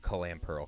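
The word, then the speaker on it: Clamperl: We got a a clam pearl. Clam pearl. Two syllables, not three.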